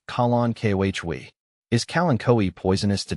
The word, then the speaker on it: Kalanchoe: Kalen Koi is pronounced colon kohhwei.